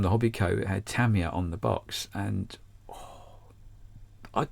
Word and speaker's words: Tamiya: know who you know who Tamiya or Tamiya, how it's supposed to be pronounced, Tamiya, you know who they